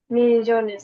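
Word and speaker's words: millones: MAELLONES, মিলিয়নেস। এখানের আই মাঝখানে যে ইংলিশে আইটা হয় ওই আইটা হবে না। এখানে এল এর উচ্চারণ লিয়ার মতো হয় তো, এটা এমনিতেই মিলিয়নেস হয়ে যায়।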